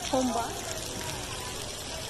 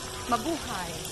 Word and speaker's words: Mabuhay: Home by? No. What is? How do you say it in the home by? Mabuhay. Buhay. Mabuhay means welcome.